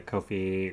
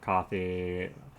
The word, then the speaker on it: Ko-fi: The better ones are the Ko-fi or Coffee, however you want to pronounce it, and our GoFundMe,